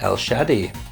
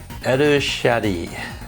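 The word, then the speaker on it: El Shaddai: i recommend picking up el shadi yeah i'm pretty sure that's how it's pronounced what's the japanese japanese says uh er shady so yeah el shadi that's what it's called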